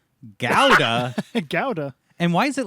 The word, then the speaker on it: Gouda: This is the Dutch pronunciation. Gouda.